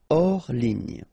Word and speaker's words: hors ligne: Hors ligne. Final here not pronounced, so ligne, and then here S is not pronounced, the final one, so hors, and remember H doesn't exist, so hors ligne. En ligne, okay, so here en ligne.